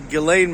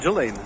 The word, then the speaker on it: Ghislaine: Well, apparently, apparently it's pronounced Ghislaine, not Ghislaine.